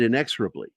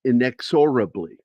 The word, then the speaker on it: inexorably: And the funny part is when I did the original recording, I said inexorably because I grew up watching British television. And that's how you pronounce inexorably over in the UK. But it's inexorably.